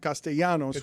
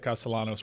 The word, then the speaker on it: Castellanos: Because I've always pronounced it Castellanos when I when I see it. He is pronouncing it the way that Castellanos wants it being pronounced.